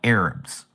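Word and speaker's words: ערב: In the in the Hebrew, the word evening is arab or what we would pronounce as Arab like Arabic people.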